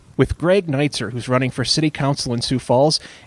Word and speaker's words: Neitzert: greg how do you say your last name nights are with greg night sir who's running for City Council in sioux falls